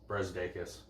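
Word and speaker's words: Brazdeikis: Brezdeikis.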